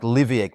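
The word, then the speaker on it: Leveque: The current forecast has it making landfall around Cape Lec. That s pronounced more like Liviac by the way on the Dampia Peninsula in the Kimberly region.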